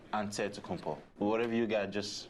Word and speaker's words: Antetokounmpo: greek way you say with the nc like antetokounmpo whatever you got just say you know it's